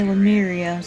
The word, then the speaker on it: Lemuria: Okay, Lamria.